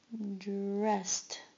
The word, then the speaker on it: dressed: Dressed. Dressed. Dressed. Notice it has a t sound at the end.